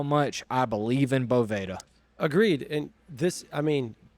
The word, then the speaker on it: Boveda: And this, I mean, you have, if you're Boveda or Boveda or Bovada, not Bovada, but I'm not actually sure what the correct pronunciation is. I actually think it's Boveda.